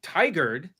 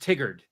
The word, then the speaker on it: Tigard: is a um there's a town called tiger that I pronounced Tigard oh when I got here but Tiger Tiger is RA like a tiger ra tiger no not